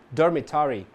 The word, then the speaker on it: dormitory: Na palavra dormitory, você deve ter percebido que o primeiro R é silent, já que é seguido de uma consoante, enquanto que o segundo, por anteceder um som de vogal, é pronunciado.